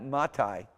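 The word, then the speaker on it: מָתַי: I as in Thai, and it's great when you have a T sound like that, matai.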